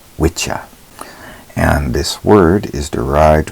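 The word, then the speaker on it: Wicca: of course the circles revolving around wiah now wikka properly pronounced in the ancient tongue is called witcha and this word is derived from the old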